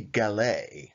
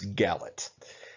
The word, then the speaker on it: Gallet: pronounce everything wrong so even if it was supposed to be galay as some claim that is a french word the british hate the french and intentionally mispronounced their words it's gallit anyway they have given us